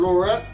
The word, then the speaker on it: Laurent: Say it like us. Don't say like okay. American. Laurent.